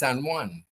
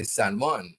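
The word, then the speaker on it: San Juan: But you know as we became a little educated and we knew it was a Spanish word, we started to say sanan. San is in Puerto Rico. There's no Sanan in Trinidad.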